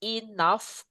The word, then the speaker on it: enough: Is it enough? Bacanya nggak boleh enough. Nggak boleh tapi enough, cukup guys. Nah gini ya, enough. Sorry guys. Jadi ke P ya. Enough. Maksudnya F. G hanya dibaca F. Enough.